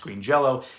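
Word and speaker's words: Green Jellÿ: Also, this obviously, it doesn't exist in this form anymore because now they're Green Jello with a Y, but apparently it's still pronounced Green Jello.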